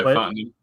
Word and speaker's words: Fontenot: Yeah, Fontenot.